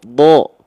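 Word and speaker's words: ض: Atau misalnya ini huruf dod, maaf, huruf dod. Do ada titiknya. Do itu kan bukan da tapi do.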